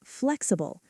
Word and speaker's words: flexible: And finally, flexible. Flexible. Three syllables.